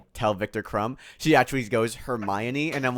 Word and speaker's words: Hermione: yeah yeah I mean like her me on I think is the most like common mispronunciation of her name it makes sense hurry up yeah I think Hermione makes a lot of